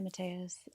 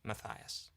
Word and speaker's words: Matthias: Hi, Matas. I was wondering if you can help me understand if for all who are wondering, my name is pronounced Matias.